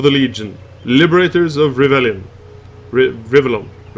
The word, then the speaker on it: Rivellon: Rivellon. From Oldenburg, what do I know? Rivellon. No. Rivellon. That's actually Norwegian pronunciation of that word.